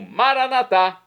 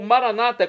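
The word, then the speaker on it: maranatha: e agora eu clamo maranat como dizemos nós católicos ou Maranata como dizem nossos irmãos separados os evangélicos ou protestantes não importa pronúncia significado é o mesmo vinde Senhor Jesus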